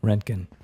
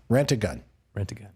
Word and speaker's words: Roentgen: How do you say your last- Roentgen. Rent-A-Gun. It's easy way to remember. Roentgen.